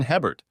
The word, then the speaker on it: Hebert: said my name is Hebert pronounced AAR in cjun country I was just